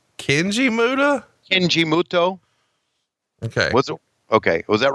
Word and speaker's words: Muta: And then he debuted here first as the Great Muto on March 18th, 1989. And then Jim Ross pronounced the name the Great Muta.